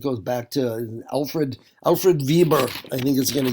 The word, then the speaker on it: Weber: It goes back to Alfred Alfred Vieber, I think, is going to get really German about it. Vieber because that W always pronounced with a V.